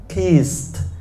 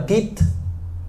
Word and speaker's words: kissed: Nhưng riêng từ kiss không bỏ cái gì cả. Kissed. Còn em lúc nãy phát âm là kit.